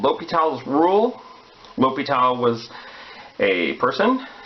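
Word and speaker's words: L'Hôpital: L'Hopital was a person, so you would say his name L'Hopital.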